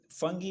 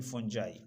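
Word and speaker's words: fungi: इसको बाज फंगी भी कहते हैं लेकिन फंजाई, ठीक है।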